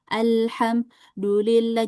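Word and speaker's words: الحمد لله: Misalnya gini, kita baca surah Alfatihah, alhamdulillah. Jadi, pas alham tarik nafas dulu dulillahi itu salah, ya.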